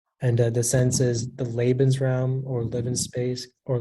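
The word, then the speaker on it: Lebensraum: institution or Nation under the sense is the labens realm or live in space or living space policy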